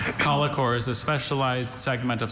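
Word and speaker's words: collochore: Alternate pronunciations. Just the one. Colicore.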